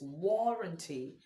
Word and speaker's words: warranty: we have number two warranty not warrant it's warrranty of course generally speaking when letter A follows a U or it follows a w the a tends to sound or not a in